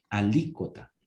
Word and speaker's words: alícuota: nueva para vos alícuota y de acento en ahí alícuota la próxima vez que